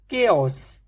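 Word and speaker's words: chaos: पहला वर्ड है केओस, तो इसमें एच नहीं है।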